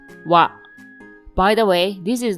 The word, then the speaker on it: は: This hiragana is pronounced ha, but as a particle, it is pronounced wa.